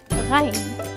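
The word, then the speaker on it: غ: The letter Ghain. Repeat with me, Gha. The sound of this letter is very similar to the R of the French, like un bonjour, bonsoir.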